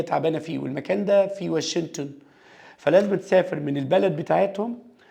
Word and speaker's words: Washington: دي بتتنطق واشنطن. اوكي جينا سايلنت.